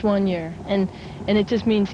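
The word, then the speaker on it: soigneur: year for granny's muffins it's a french name and it's spelled s-o-i-g-n-e-u-r it's one year and and it just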